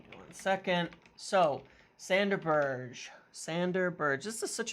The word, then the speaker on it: Berge: pronounce his name okay I watched a video of people asking him how to pronounce his name and so I'm saying it sander Burge because he gave like three different ways of saying it in that interview and said that it's fine and Burge is okay